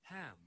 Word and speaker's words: ham: Y en H, la H en Spanish no lo pronunciamos, ¿ya? Pero en English Sí, tiene un sonido, ¿ya? Viene don Tomás Cárdenas, lo vamos a dejar presente. Tomás Cárdenas. Ya. Ham. Es como que ustedes, la H, botan un poco de aire, como ham.